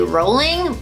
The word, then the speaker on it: Rowling: Rowling, actually her name is pronounced J.K. Rowling, but everyone says Rowling.